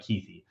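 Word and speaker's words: Kuithe: name is Brandt keithy it's like k-u-i-t-h-e so like it's pronounced like keithy how much like harder and cooler is a name Brandt quaith like how much better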